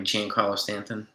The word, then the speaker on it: Giancarlo: Please pronounce Stanton's first name right. Giancarlo Stanton. Giancarlo.